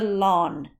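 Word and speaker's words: ln: your log key and it is called The Lawn Key okay pronounced lawn not in okay I think it's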